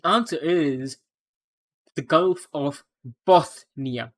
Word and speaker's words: Bothnia: The answer is the Gulf of Bothnia. Not Bosnia, but Bosnia with a lisp. Bothnia, or Bosnia.